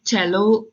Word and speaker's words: cello: देते हैं कि मैं चेलो प्ले कर, दिस इज प्रोनाउंस्ड एज चेलो, remember, okay, it's like a violin.